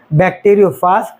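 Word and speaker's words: bacteriophage: इसलिए इसका नाम बैक्टेरियोफाज रखा गया या फिर बैक्टेरियो फेज भी कहा जाता है। जैसा प्रोनाउंस करना चाहे वैसा कर सकते हैं।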